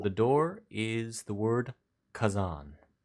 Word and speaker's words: Khazan: Above the door is the word Kazan, spelled Khazan.